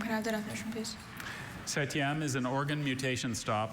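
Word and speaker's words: septième: Setyam. Setyam. Are there any alternate pronunciations?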